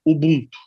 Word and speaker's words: Ubuntu: A pronúncia africana é Ubuntu.